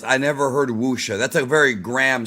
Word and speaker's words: wuxia: Now, Hoodie says I never heard wuxia. That's a very gram spelling of it, bro. Wuxia is spelled w u x i a.